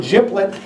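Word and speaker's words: GPLET: out to G plet therefore and if they pronounce it giblet they have concerns so you can already tell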